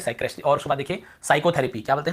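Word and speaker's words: psychotherapy: और उसके बाद देखिए साइकोथेरेपी, क्या बोलते हैं, साइकोथेरेपी। यहाँ पे आपको पता चल गया पी साइलेंट है ना, हमने क्या पढ़ा इसे, साइकेट्रिस्ट, साइकेट्रिस्ट यहाँ पर हिंदी में लिखा साइकेट्रिस्ट।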